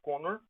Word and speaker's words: Kanner: O autor do diagnóstico, ele é um austríaco, Leo Connor, se escreve Kanner, mas se fala Connor, mas ele estava nos Estados Unidos, num hospital chamado John Hopkins.